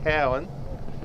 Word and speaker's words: Cowan: and kicking the goal i think the correct pronunciation there andrew is cowan let's get that right